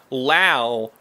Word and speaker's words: Lau: This is from Lau Rhymes with Wow.